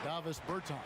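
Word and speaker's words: Dāvis Bertāns: Oh, well, now, at this point in my life, it's Davos Bertans. Is that how you say his name? Yeah. Davis Bertans.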